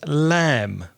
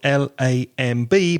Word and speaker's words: lamb: arrow in English is lamb lamb it spelled L AM B but the B is not pronounced so we say lamb I'm going to have